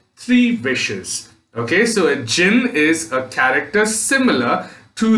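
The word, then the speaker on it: djinn: upset now there's another word over there d j i n n it is pronounced as jin and ajin is a spirit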